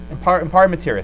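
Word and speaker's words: in pari materia: How do you pronounce, how do you do this one? Pare materia? Am I ballpark? Good. Has it? Impare materia, thank you.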